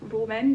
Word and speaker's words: Rom&nd: So I think this brand is pronounced Rom&nd. It's R-O-M, then like an and sign, N-D, which is the water tint in shade 14 Mauve Moon.